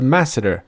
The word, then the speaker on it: Masseter: released with update 26, and it is apparently pronounced the Masseter.